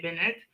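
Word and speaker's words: Bennett: Benette, oh, I mean it's spelled in English, right? Benette, Michelle Benette, but it's Queen Krill or French, you say Benette.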